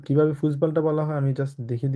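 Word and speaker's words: Fußball: music হোরেন and Ryzen হ্যাঁ আমরা যখন ফুটবল না বলে আমরা এটাকে বলতে হবে ফুসবল ঠিক আছে কারণ জার্মানে ফুসবল বলা হয় ঠিক আছে তো কিভাবে ফুসবলটা বলা হয় আমি জাস্ট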